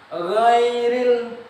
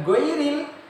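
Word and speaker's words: غير: Ghairil bukan goiril, beda.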